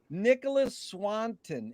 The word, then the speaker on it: Nicholas Swanton: Anyways, Nicholas Swanton. Is that the correct way to pronounce it? Yeah, yes, it is.